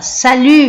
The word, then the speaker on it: salut: E ele fala salut Marc. Você fala, então aqui eu não pronuncio o T, ele falou salut Marc, né?